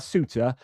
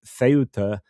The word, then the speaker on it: Ceuta: Spanish call it Ceuta if they are from sort of most of Spain. But then Andalusia, I said pronounces a th, but they don't. It's the other way around, and they would pronounce it Ceuta. So I just got the th part wrong with the Spanish when I was talking about it before. Anyway, I just want to